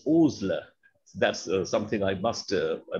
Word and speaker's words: Osler: the matter of fact he himself wrote that my name is not osler it's oozler that's something i must